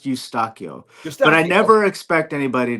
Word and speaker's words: Eustaquio: Last name is spelled is actually pronounced Eustaquio.